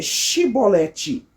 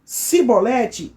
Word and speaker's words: chibolete: E e dizia, então, então diga para mim, eh, eh, chibolete, se eles dissessem eh cibolete sem conseguir pronunciar corretamente a palavra, prendiam-lhe e matavam no lugar de passagem do Jordão.